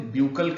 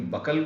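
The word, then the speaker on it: buccal: Then the second one इज ब्यूकल cavity, कभी कभी बकल cavity भी कहा जाता है। तो मोर करेक्ट प्रोनाउंसिएशन जो है इसका ब्यूकल कैविटी होगा।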